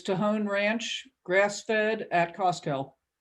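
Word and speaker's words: Tejon: that didn't have the in it uh it's tohon ranch grass fed at costco oh how do you spell it t-e-j-o-n okay thank you i can give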